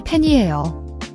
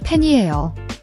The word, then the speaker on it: 팬이에요: The ae in pain is a flat A sound, like in the English word cat, not like pen. Make sure your mouth is wider, not rounded.